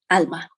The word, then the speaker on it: Alma: Am I saying it right? Is it Alma or Alma? Alma.